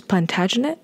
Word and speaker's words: Plantagenet: in future ones and also just some quick pronunciation it is Plantagenet in terms of the houses and it's called